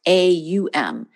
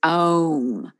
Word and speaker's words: Om: it you know it it looks like it's pronounced om it's actually pronounced a-u-m it's om is actually how it's